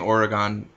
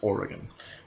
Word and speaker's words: Oregon: I'm saying Oregon ironically because that's not how it's pronounced. And if you pronounce it that way, you should shut up. Okay, it's Oregon.